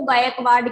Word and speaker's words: गायकवाड़: वो जो आगे स्पेलिंग लिखी है उसको गायकवाड़ कहते हैं, ठीक है।